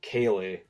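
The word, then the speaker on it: ceilidh: k is no no so in Scotland the K spelled so it's spelled in G so it's c e i l i d h I think Kay so it's um it's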